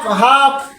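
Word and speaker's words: half: টা উজ্জ্ব হয়ে যাবে এল এর উচ্চারণ হবে না এল এর উচ্চারণ বাতিল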